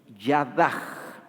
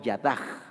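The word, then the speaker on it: יָדָה: que en el hebreo es Yadaj, termina con una H y generalmente se pronuncia como J, Yadaj. Y Yadaj lo traducen en este verso acción de gracias.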